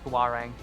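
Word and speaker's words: Hwarang: I've received an anonymous tip that Huarang's name is pronounced Huarang.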